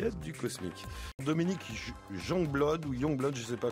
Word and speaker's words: Jongbloed: Youngblood, comme en anglais.